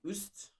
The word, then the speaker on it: üst: And this, in a sense, it's similar to the pronunciation of like ew, that's disgusting, or few. It's similar, just not exactly identical.